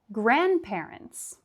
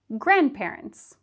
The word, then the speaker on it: grandparents: Same with grandparents. Not grandparents, but grandparents. Grandparents. It would be the same for grandma or grandpa. We don't pronounce the D.